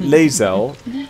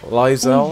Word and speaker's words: Lae'zel: Lae'zel. Lae'zel.